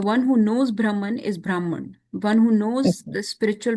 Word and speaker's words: Brahman: yes Krishna is realized in different degrees as brahman permatma and the supreme personality of godheadrishna consciousness means never pronounced brahman brahman would have a dioritic on